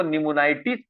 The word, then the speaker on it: pneumonitis: ठीक है, हम लिखते पी निमोनाइटिस है, लेकिन पी निमोनाइटिस हम सिर्फ लिखते हैं। ठीक है, पढ़ते क्या है, निमोनाइटिस। पी जो है वो साइलेंट हो जाता है।